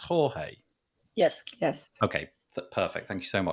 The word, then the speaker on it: Jorge: Is this name that I'm seeing on the screen, is that pronounced Jorge?